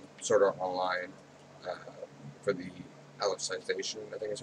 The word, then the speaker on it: Alicization: Every Saturday there's new episodes of Sword Art Online for the Alicization, I think is how it's pronounced, arc, which is season 3.